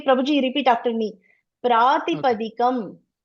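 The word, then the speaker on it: प्रातिपदिकम्: People are making mistake how to pronounce this, okay? Prabhu ji, repeat after me. Pratipadakam. Pratipadakam.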